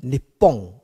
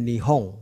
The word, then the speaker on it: 日本: The Japanese God is called the Sunlight God, 日照大神。哪里？日照大神。Japan, in their original pronunciation is Nippon. 日本这两个字念成 Nippon.